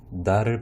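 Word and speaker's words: ذال: 자, 왼쪽에 있는 발음이 조금 어려울 수 있는데 혀를 문 상태에서 디귿 소리를 내면은 살짝 발음이 세게 되어 바람 소리가 나오게 됩니다. 혀를 물고 있기 때문에. 그래서 혀를 물고 있는 상태에서 달을 발음하게 되면은 달이라고 발음이 되게 돼요. 그래서 살짝 발음이 새는 디귿 소리라고 생각하시면 되겠습니다.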